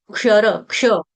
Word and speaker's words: क्षर: क का ये त्वक्षर इसको शर नहीं बोलेगा कोई शर शर्मा जी वर्मा शर्मा जी वाला शर नहीं है ये क्षर क्ष ये तो शरम म